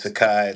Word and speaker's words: Tsakie: And it's under my real name, which is spelled TSAKIE, last name. So my first name is Sakai, last name.